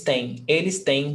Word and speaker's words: têm: Here, the pronunciation doesn't change. It's just the spelling that's different. So singular, present, ele tem 30 anos. Plural, eles têm 2 irmãs. The pronunciation is the same.